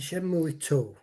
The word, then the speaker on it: Shenmue: what why this particular one shimmery one and shenmue were brilliant masterpieces in my opinion for the